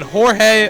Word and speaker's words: Jorge: Then Jorge Arenas, or is it George Arenas? I'm sorry. Batting 8th, playing 3rd. He spells it Jorge. He pronounces it George.